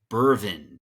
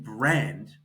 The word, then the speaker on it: BRVND: Burvin. Well, if you look at the letters, it's saying brand. So you're about to understand the store. So the A in brand is upside down.